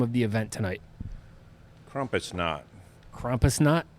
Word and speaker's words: Krampusnacht: Krampusnacht. Krampusnacht? Krampusnacht.